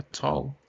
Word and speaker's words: tall: A palavra tall se escreve com A também, mas vocês viram que parece que eu falei com um O aqui, certo?